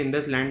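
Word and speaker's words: IndusInd: इंडसलैंड bank के अंदर, ये बेसिकली इंडसलैंड बैंक बोलते हैं इसके प्रोनाउंसिएशन को, तो इसके अंदर अगर आप इन्वेस्ट करते तो आपको -3% का रिटर्न मिलता।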